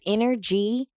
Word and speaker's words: InnerG: It's inner G, but it's spelled inner, INNERG, because my energy is coming from the inner me, which makes me an inner G All because I'm right still a here.